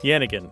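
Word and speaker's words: yannigan: on Facebook and Twitter Grant Please spell janigan yanan y a n n i g a n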